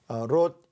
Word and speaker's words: 롯: 롯 이야기를 잘못 발음해서 룻 그러면 큰일이 납니다.